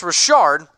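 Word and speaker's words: Richard: it's Josh Jacobs and Jalen Rashard is spelled RI CH Rd gotta throw some hay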